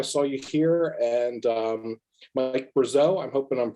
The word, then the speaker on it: Brazeau: Thomas Wenzel, I saw you here, and Mike Brazeau, I'm hoping I'm pronouncing that correctly. Yeah, Brazeau, yeah.